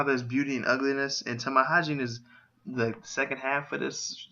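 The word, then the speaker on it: tamahagane: And Tamahagini is used to make the steel in swords in Japan.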